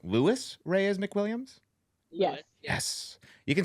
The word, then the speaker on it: Louis Reyes McWilliams: Louis Reyes McWilliams.